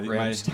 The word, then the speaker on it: Rammstein: Yeah, Rammstein.